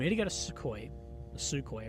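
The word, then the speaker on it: Sukhoi: Russia again we need to go to suco suco It's pronounced and be like we will Design the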